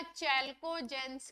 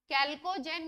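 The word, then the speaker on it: chalcogen: हम कैल्को जन या चलको जनस कहते हैं कैल्को जन या चलकोजन इनको प्रोनाउंस करते हैं इसका रीजन यह है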